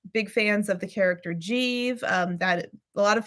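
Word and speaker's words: Giev: fans of the character jeeve um that a lot of people pronounce it guiev because it's spelled g-i-e-v but it's like the proper pronunciation of the city Kiev in the Ukraine uh it's not Kiev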